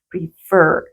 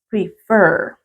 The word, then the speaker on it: prefer: prefer tienen dos verdad y la mayor fuerza de voz está en la última sílaba Sí también entonces la mayor fuerza de voz está aquí no en la última sílaba admit prefer listo Entonces vamos a